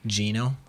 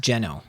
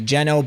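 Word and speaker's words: Geno: talking about this game I didn't even mention Gino or he's actually pronounced jeno so correct pronunciation would be jeno but everyone knows him as Gino everyone loves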